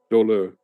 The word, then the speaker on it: Dole: Dole. It's got that French. Dollar. It's got that French sound to it.